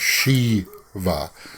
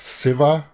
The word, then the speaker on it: Shiva: Okay, we would pronounce that Shiva, but you guys pronounced it, or at least I've heard it pronounced Siva instead of sh. There's no sh sound.